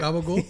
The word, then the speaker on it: gabagool: Gabagool? That's how you say it.